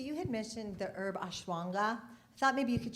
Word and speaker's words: ashwagandha: So the ashwagandha that she's mentioning, it's a long word, but it is spelled exactly as I said it. It's like ashwagandha.